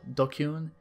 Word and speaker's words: DQN: Japanese net slang, pronounced, dokyun, used to refer to people who are stupid, antisocial, or delinquents.